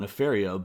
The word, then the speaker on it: Nefaria: man animated show and it's apparently Nefariah in some cartoon. I don't know. I prefer Nefar. Yeah, I never never pronounced it that way in my head. Yeah, it looks like Nefaria and I like that better, but I guess Nephariah, I don't know.